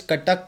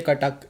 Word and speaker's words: Cuttack: तो ये तुम्हारा कॉलेज कटक में है ना? लाइक ऐसे ही प्रोनाउंस करते हैं ना उसे? हाँ, कटक में बोल सकते हो.